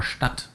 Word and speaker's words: Stadt: You will also find words that are written with a DT, like Schmidt or Stadt, and those sound virtually indistinguishable from their T counterparts, that are Sport or Pirat.